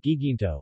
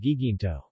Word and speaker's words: Guiguinto: The Spaniards substituted Guay with hard G for the Tagalog Hi. The place has since been called Guiguinto.